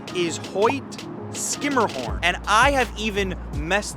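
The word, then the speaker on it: Hoyt–Schermerhorn: how would you say it if you said Hoy sherah horn you would be incorrect the proper pronunciation is Hoy skimmerhorn and I have even messed that up on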